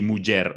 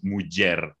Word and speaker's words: muller: Sí, muller, mugi. Porque, a parte, isto também é muito pela... Sí, com duas L's, dizemos muller.